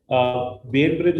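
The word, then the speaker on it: Bainbridge: बेन ब्रिज reflex, ये बेन है, brain नहीं है।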